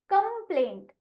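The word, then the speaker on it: complaint: right जो कि है सी सीओ एम का उच्चारण होता है कम और यहां पर देखि ओ की आवाज अ है और प्लेन प्ले पी एल का उच्चारण पल ए का नाम ए आई को गए भूल और एंटी का उच्चारण तो इसीलिए कंप्लेन अब इसी की तरीके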